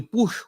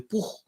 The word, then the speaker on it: Puch: El sinónimo de push o de puj, que es como se pronuncia correctamente en Cuba, es la puchita, que es esta chiquitica.